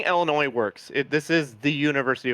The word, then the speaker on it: Illinois: It's not Illinois with a hard s. It's Illinois. The S is silent.